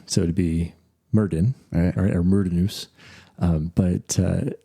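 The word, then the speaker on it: Myrddin: But in Welsh, u Min is spelled M Y R D I N. So Min, the two D's make a th sound in Welsh.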